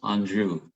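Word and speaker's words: Anjou: different varieties of second pear and the the anjo and notice some people will maybe pronounce that a little different but it is pronounced andrew and um the anju is a great pair the cycle pair is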